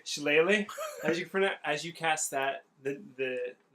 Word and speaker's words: shillelagh: So as you cast, how do you pronounce that? Shillelagh. Shillelagh.